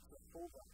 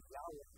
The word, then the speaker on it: Yahweh: am this is the name that has been rendered jehovah or pronounced yahweh this is god's name